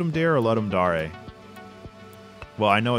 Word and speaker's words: Ludum Dare: The name is Latin for to give a game, and the Latin pronunciation sounds like Ludum Dare. However, it often ends up being pronounced as Ludum Dare, since dare is also an English word.